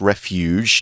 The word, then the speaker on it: refuge: And it once provided refuge, and that is a soft G. It's refuge, not refuge or anything like that.